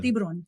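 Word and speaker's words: tiburón: Borrón en Tiburon. español. Tiburon.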